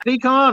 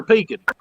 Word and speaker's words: pecan: hey mike's from georgia is it pecan or pecan we say pecans around